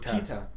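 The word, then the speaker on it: Peeta: By the way, how do you pronounce his name? Who? Is it Peter or is it Peta?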